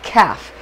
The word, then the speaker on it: Kaph: it with with that this is calf k-a-p-h is the best way to spell it because that differentiates that